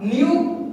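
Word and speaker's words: knew: New, new. This is the second form of no. New is the second form of no. So again, the K is silent.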